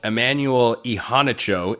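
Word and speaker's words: Immanuel Iheanacho: Emanuel Ehanicho is how uh he told Pat McAfee on ESPN. He pronounces his name, five-star offensive tackle.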